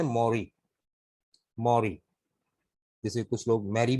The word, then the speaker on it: Mary: पढ़ते हैं, सही है, अमेरिकन में मॉरी है वैसे। ब्रिटिश में ये नाम MARYU लिखा जाता है। और ये मौरी जो है बाइबल में बीबी मरियम अलैहिस्सलाम का नाम है। अमेरिकन ने इसकी स्पेलिंग चेंज कर दी, MARY, दिस इज मौरी, मौरी। ठीक है, मैरी गलतुलाम है। अच्छा जी, लेकिन चलेगा, अगर कोई मैरी पढ़ा रहा है तो हम गलत नहीं कहते उसे, लेकिन सही तलफ्फुज इसका मौरी है।